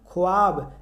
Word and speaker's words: ख्वाब: जैसे देखिए लिखा हुआ है ख्वाब। ख्वाब लिखा हुआ है। क्या लिखा गया है? ख्वाब लेकिन इसको पढ़ा जाता है ख्वाब। वाव साइलेंट रहता है।